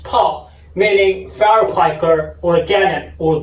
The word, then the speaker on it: 炮: In Chinese, it's pronounced 泡.